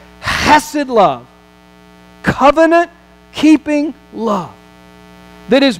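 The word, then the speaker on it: חסד: I'm going to enter into a covenant, chesed, that's the way you pronounce it in the Hebrew, chesed love, covenant-keeping love, that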